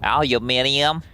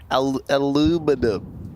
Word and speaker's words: aluminium: Aluminium. Aluminum. Wait, is that how aluminum's how Americans say it.